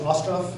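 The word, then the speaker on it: Остров: The Island is the English, and the Russian is Ostrov. Is that how you pronounce it?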